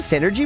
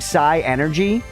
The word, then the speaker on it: synergy: Hey, we didn't have Did we have synergy before? You have no synergy. Okay, Jay, how would you pronounce that? Initially, I was saying sigh energy.